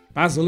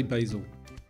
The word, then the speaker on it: basil: Basil is a herb that belongs to what family? Mint, grass, or parsley? And for my American viewers, that's how we Brits say basil.